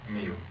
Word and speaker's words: Miu: how do you spell how do you pronounce that me okay and what's your